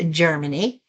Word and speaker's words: Jermani: And Germany is spelled Jermani, but it's pronounced Germany.